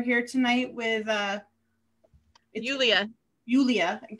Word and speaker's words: Julia: tonight with uh julia julia i always want to pronounce the jay but i know that it's not uh who's a laurel